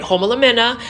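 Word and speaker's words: Homalomena: Homolamena Shelby.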